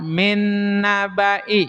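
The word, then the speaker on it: من نبإ: Kemudian yang keempat lafaz min nabai. La min nabai. Sekali lagi. Lafaz min nabai. Lafad min nabai. Hati-hati bnya dibaca pendek.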